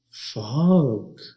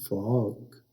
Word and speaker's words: fog: Spelling आपने ये याद करने हैं, FOG, फॉग। इसको गलत प्रोनाउंस भी किया जाता है, इसको कुछ लोग फोग बोलते हैं, जो कि गलत है। इसे फोग नहीं बल्कि फॉग कहते हैं।